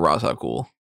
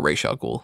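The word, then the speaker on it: Ra's al Ghul: case being made for Raza ghoul or Raa ghoul dep depending on how you pronounce it I hate Rael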